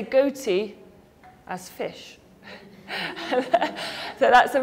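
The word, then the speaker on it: ghoti: The answer is fish. And that's because you've got the f sound, the GH, as in tough.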